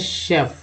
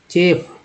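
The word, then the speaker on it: chef: अब सी एच को क्या बोलते हैं शेफ, सी एच से श होता है तो शेफ हो गया ना, शेफ। आप लोग पढ़ते हैं किसी को लिख के दे दिए तो कहेंगे चेप, चेफ, गलत हो जाता है ना।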